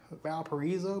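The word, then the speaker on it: Valparaíso: Maybe the Valparaiso in Chile is pronounced Valparaiso because it's Spanish. So maybe that's where the people who were visiting this town in Indiana was just pronouncing it the same way you would pronounce the town in the country of Chile.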